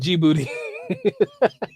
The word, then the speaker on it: Djibouti: says it's called Djibouti ok I appreciate that Djibouti hey man that is the easiest way for